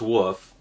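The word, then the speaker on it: weft: prepare what's called the woof and it's it's spelled w-e-f-t but it's pronounced woof and this is the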